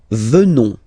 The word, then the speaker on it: venons: Nous venons. Okay? O-N-S, classical ending for nous. Okay? Final S not pronounced. So O-N, on, venons, venons. Nous venons.